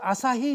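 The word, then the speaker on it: 朝日: 아침을 아사 이래 보고 해를 히 이래 부르는 거죠.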